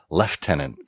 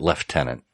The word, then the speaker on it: lieutenant: and above lieutenant-colonel or leftenant Colonel which what why do the British pronounce it left Tennant oh I have no